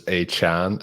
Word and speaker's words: Achane: It is Achane.